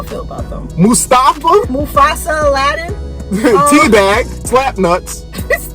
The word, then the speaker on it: Mustafa: And Mufasa. No, you gotta say it like Tom Phillips. Mustafa.